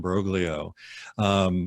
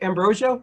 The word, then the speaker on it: Ambrogio: lock and chip and brogue leo or Ambrogio chip help me out i mispronounced your name i know okay Ambrosio just like bros oh okay awesome good